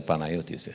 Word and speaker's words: Panagiotis: Panagiotis. I pronounce better Panagiotis.